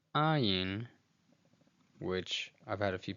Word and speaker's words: Ayin: Now, the Ayin is a glottal stop, and for our purposes, we'll just say that it's a silent letter, like the letter Aleph.